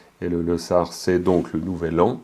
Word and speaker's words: Losar: Vu que c'est le premier jour, c'est jeudi, c'est le premier jour, donc le Losar, si on le prononce à la tibétaine, le Losar. Et le Losar, c'est donc le nouvel an, hein, Lo, l'année, et puis Sar, Sarpa, pour dire nouvelle.